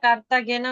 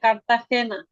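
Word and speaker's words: Cartagena: যে কার্তা হেনাদে ইন্দিয়াস এটা কার্তা গেনা উচ্চারণ করছিলেন উচ্চারণ হবে কার্তা হখেনা হ্যা হচ্ছে উরুগুয়ে উরুগয়ে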